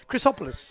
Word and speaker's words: Chrysopoulos: We are back with Chrysopoulos. Chrysopoulos. You have it now.